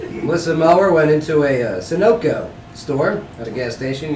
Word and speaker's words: Sunoco: oh yeah listen listen Mauer went into a Sunoco store at a gas station you guess I'm